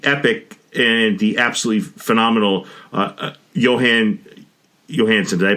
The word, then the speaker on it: Jóhann Jóhannsson: One is Adam, and the epic and the absolutely phenomenal Jóhann Jóhannsson. Did I pronounce his name right?